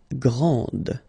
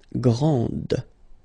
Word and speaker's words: grand: exactly the same thing this final D is not pronounced okay so and then the feminine form Grand okay so you put